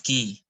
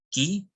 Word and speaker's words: q: disebut C daripada hehehe huruf q seharusnya disebut Ki bukan Q ada pula kesalahan penyebutan